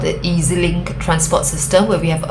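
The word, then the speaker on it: EZ-Link: transport card called the Easy Link transport system where we have a card, an easy link card, EZ EZ link. Okay. So we pronounce it as easy link.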